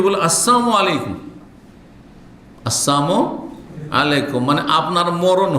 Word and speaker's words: আসসালামু আলাইকুম: সাবধান, লাম যদি ওখানে সাইলেন্ট করে দেন তাহলে ওর মানে মরণ হয়ে যাবে। সালামের লামকে সাইলেন্ট করা বুঝেন তো? হ্যাঁ, উচ্চারণ করলেন না আপনি, তাহলে ওর মানে মরণ হয়ে গেল।